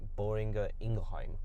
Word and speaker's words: Boehringer Ingelheim: properly either but um the way that you pronounce bi is boring ingerheim it's a combination of